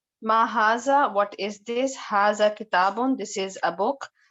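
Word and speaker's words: هذا: Haza is pronounced haza. But it is written without the first alif.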